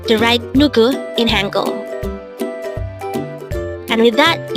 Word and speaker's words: 누구: NUGU. NUGU. This is pronounced as a two-syllable word.